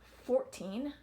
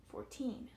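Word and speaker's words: fourteen: Here we have 2 syllables. 14, 14, 14. Second syllable gets that stress. I don't say 14, I say 14.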